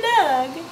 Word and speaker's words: Dug: You're a Doug. You're a Doug. It's spelled D-U-G, like pug.